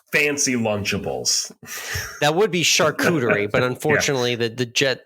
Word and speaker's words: charcuterie: you call that fancy Lunchables that would be charcuterie but unfortunately the the jet the Jets linemen pronounced it carcucci and he went super viral for that a